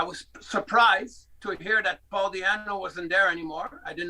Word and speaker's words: Paul Di'Anno: And I think that Paul Di'Anno, is that how you pronounce it in English? Yeah. Paul Di'Anno, yeah.